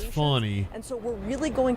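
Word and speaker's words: Fani: no I'm saying it wrong or not it's not Fanny it's funny and so we're really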